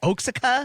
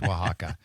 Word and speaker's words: Oaxaca: final destination is um oh what is this oaka Ooa yeah I like it's pronounced Waka um but yeah back from Waka and one